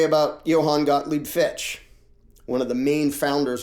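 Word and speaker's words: Fichte: I'll say his name Johann Gottlieb Fitch I believe is the pronunciation who advocated what was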